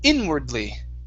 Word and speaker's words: inwardly: Okay, this word, the stress is at the very beginning. It's inwardly. Inwardly.